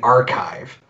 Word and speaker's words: arXiv: Yeah, so one of the best resources is what's called the archive, but it's spelled ARXIV.